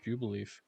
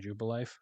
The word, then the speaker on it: Jubilife: I always pronounce it Jubileef. I mean, it is both pronounced Jubileef and Jubilife. I just pronounce it Jubileef. I think that's just how I pronounced it as a kid.